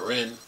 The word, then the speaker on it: Wren: Star Wars Jedi Survivor senior encounter designer Patrick Wren, the R is silent because it's W-R-E-N.